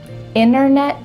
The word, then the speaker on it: internet: Internet, winner. Yeah, we're cutting out that T, especially when there's an NT in the middle of a word.